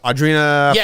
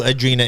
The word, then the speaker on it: Audrina: the way Audrina was also on the plane Audrina from the hills yes you knew it for the record I knew I do not know who Adrena is yeah stop saying her name wrong oh